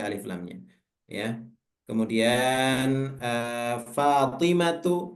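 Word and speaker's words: فاطمةُ: lamnya ya kemudian ee fatimatu itu juga enggak boleh ditanwin baca Fatimah itu enggak boleh fatimatun gitu hamzatu enggak boleh juga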